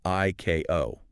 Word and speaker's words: ICAO: It explicitly commands that ICAO, that's the International Civil Aviation Organization, the UN agency that sets these global standards, must be pronounced phonetically as ICAO.